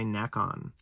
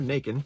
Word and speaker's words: Nacon: On the PS4, it has a PS5 upgrade available, and is developed and or published by Nacon. Or Nacon. It is spelled like bacon, I guess.